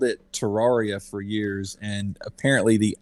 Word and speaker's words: Terraria: Typically it never works in my favor because I called it Terraria for years, and apparently the actual pronunciation is Terraria.